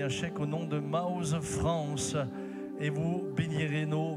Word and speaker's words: Maoz: Maoz, ça s'écrit M-A-O-Z. Ça n'a rien à voir avec mouse.